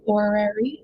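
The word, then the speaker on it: horary: So when I look at the timing like this guy, sometimes we call it an orary, which is spelled h o r a r y.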